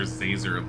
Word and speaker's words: Zazer: doing it on purpose it's professor zazer like laser with a z how hard is that